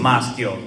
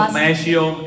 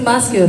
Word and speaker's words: Maschio: Maschio, but also Mascio, it is accepted. It's Maschio, right?